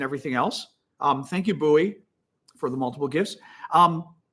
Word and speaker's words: Bowie: Russian Bots and everything else um thank you buoy for the multiple gifts um I I don't or Bowie it's funny I say buoy because that's how that's the town in Maryland